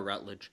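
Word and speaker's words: Rutledge: It's Laura Rutled, who is phenomenal, by the way.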